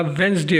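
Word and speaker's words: Wednesday: वेड वेडनेसडे नहीं होता वेडनेसडे होता है बल्कि यहां पर जो डी है वो साइलेंट है।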